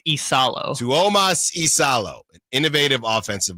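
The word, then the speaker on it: Iisalo: Isalo, I believe. So there's two I's. Yes. Again, he's from Finland. I see. So I if the internet is correct, I believe it's Tuas Isalo.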